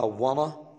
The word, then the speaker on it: wanna: يعني لما بيجي يقول want، عشان ده خطأ الناس بتعمله كتير، أما هو عايز يقول want to يقولها wanna، ما يقولش wanna to.